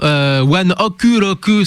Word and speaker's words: ONE OK ROCK: un jeu de mots, One Oku Roku, ce qui fait qu'en fait ça fait One O'Clock En japonais. prononcé à Quand la tu prononces à la japonaise. Mais c'est vrai que nous en France on a chopé le tic. En anglais. Voilà, de le dire One Ok Rock.